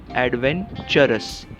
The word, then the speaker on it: adventurous: तो TU को टू या TU को ट नहीं करेंगे, एडवेंचरस, एडवेंचरस। कैसे याद रखेंगे?